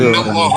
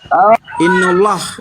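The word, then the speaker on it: إن الله: inna Allah di situ. Innallah, innallah, bukan inna Juma nggak Allah. ngerti ya. Hei, innallah, bukan inna Allah.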